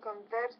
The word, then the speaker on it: converts: to his religious philosophy so when it's a verb the stress is on the second syllable when it's a noun the stress is on the first syllable so let's read it